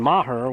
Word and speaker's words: Maher: and looks like Brooklyn Maher will be checking into courtesy run I did ask her the other day correct pronunciation and I probably butchering it but she did say Mah okay all right I said